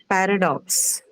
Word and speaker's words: paradox: And generally, because it's a noun, you can say that it's marked on the first. Right. Paradox.